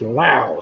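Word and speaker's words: Laos: next to vietnam is spelt with an s but only because the french put it there and it's not pronounced or anything like that it's pronounced in english as lao so cow and lao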